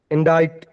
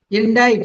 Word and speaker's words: indict: Indict. Indict. Very good. Indict means accuse. Okay. C is silent.